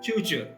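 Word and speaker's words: cucur: In Bahasa Indonesia and Bahasa Malayu, both written in Latin script, the letter C is pronounced as ch as in church. So though it is spelled cu, it is pronounced chuchu.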